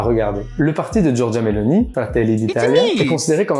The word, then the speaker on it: Giorgia Meloni: Sa leader, qui est Giorgia Meloni, je le prononce avec l'accent, qui est la présidente et qui a emmené son parti à la victoire.